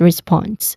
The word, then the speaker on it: response: Um pronunciation wise it also starts with re with a short e vowel sound and then spawn. Spawn again. Spawn. That's the second syllable. It is the stressed syllable here. So we use uh SP as a consonant cluster here. And then there's a vowel short vowel O sound as in hot.